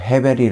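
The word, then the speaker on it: הֶבֶל: 전도서 에 중심 사상인 헛되다 는 히브리어로 헤베 리 라고 발음 하는데요 전 도 3에서 37번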